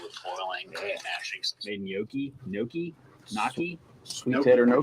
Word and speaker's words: gnocchi: Made gnocchi, gnocchi. Sweet Nope. potato no G is silent.